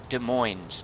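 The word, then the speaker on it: Des Moines: on east of De De Moines de moin de moin yeah you don't pronounce the N the S it's French right whoops I just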